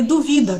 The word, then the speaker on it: duvida: Por exemplo, dúvida, que é uma incerteza, e duvida, que é uma flexão de duvidar. Então, essa tem uma mudança da sílaba tônica.